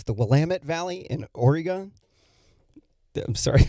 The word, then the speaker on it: Willamette: of the state of oregon in the uh willamette valley here i'm sorry that's a joke it's the willamette valley in oregon i'm sorry i just it's